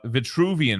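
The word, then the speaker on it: Vitruvian: Yeah, you did say it wrong. It's It's uh Vituvian man. What do you call it? V. You had a s or a C or something in there.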